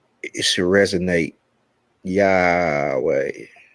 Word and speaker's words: Yahweh: Yahweh. It's like yawning, or it's like ha ha ha.